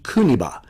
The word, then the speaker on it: Kuniba: Anyway, the kanji characters for Kosei Kokuba are Okinawan, and that's the Okinawan way of pronouncing it, but in Japanese it's pronounced Yukimori Kuniba.